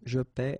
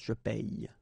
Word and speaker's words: paie: So between this one, je paie, and then some persons can pronounce je paye. Okay, tu paies, tu payes, il paie, il paye.